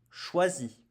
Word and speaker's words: choisis: Pour le premier, je choisis je choisis. Pareil, nous ne prononçons pas le S.